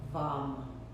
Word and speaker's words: VAM: And as you do into that space of attention, add the repetition of the syllable VAM, V as in Victor, A-M, VAM, VAM, VAM, in your mind.